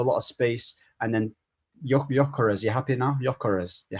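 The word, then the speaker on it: Gyökeres: Bro, It's Gyokeres, Gyok.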